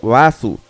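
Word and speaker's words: ヴァース: Barth en japonés es pronunciado Basu, y su escritura coincide perfectamente con la de la Reverse Mountain.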